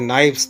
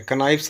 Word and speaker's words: knives: KNIVES हो जाता है, नाइफ्स। तो पूरा हो जाएगा आई हैड 5 नाइफ्स, I have 5 नाइफ्स। KNIVES, यहाँ पर के साइलेंट है, कनाइफ्स नहीं बोलते हैं, आई हैव 5 नाइफ्स।